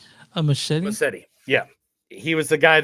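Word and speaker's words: Muschietti: Massetti.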